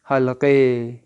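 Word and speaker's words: حلقه: تو آپ فارسی میں اس کا تلفظ یاد رکھیں، ہا سے حلقے.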